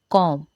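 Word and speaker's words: comb: ठीक है, तो वेडनेसडे तो D silent, our H silent, knife के silent, कॉम B silent, sign जी साइलेंट।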